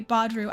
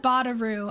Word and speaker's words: Badru: I used to say his name wrong. I remember that I said, yeah, okay, Badru. I said Badaru. I don't know why I thought there was 2 A's.